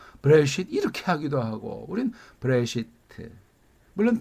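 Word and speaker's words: בראשית: 그러니까 이걸 브레쉿 이렇게 발음하는 사람도 있는데 브레시트 그 개념을 이해해야만 한다 그 말이죠. 이걸 브레쉿 해버리면 발음이 딱딱해지고 멋이 없죠. 왜?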